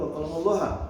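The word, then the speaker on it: وَكَلَّمَ اللَّهُ: Enggak, di situ memang bacanya yang benar wa kallamallahu.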